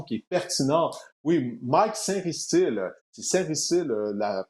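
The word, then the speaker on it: Sainristil: envoie une question qui est pertinent oui Mike saintile c'est la prononciation de son nom de famille paril est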